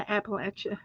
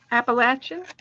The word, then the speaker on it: Appalachia: I'm from the Appalachia Mountains. You're not, because there's no such thing. Appalachian? Appalachians.